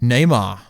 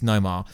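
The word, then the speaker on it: Namor: and he's also teased Neymar the foot player no I could say I say it wrong on purpose guys obviously it's Nomar but obviously yeah that's been teased we know dr.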